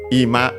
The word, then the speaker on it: ima: In the balloon, Charmander's balloon, it says first above ima, ju mai, ima was also in Ox dialogue at the end, means now, accent on the first syllable.